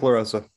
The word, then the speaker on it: LaRosa: Yep, LaRosa.